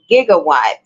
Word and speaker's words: gigawatt: the correct spelling is gigawatt although rarely used the J sound at the beginning of the SI prefix Giga is an acceptable pronunciation later versions of closed